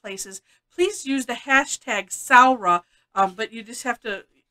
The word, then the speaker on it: Samhradh: please use the hashtag saura but you just have to you just have to learn how to spell it right um because it it doesn't sound like it looks so but if you